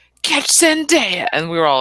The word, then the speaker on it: Zendaya: I also, via Spider-Man, learned that the proper pronunciation of one of Harper's new fabulous like Disney crushes is Zendaya. Oh, Zendaya! Not Zendaya, which is how I heard it a lot in the wrongness of the name.